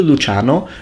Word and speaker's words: Luciano: Can I call you Luciano? It's like the Italian way of pronouncing it.